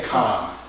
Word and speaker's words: Cohn: I'm saying Cohn, guess what I was teaching. You say Cohn.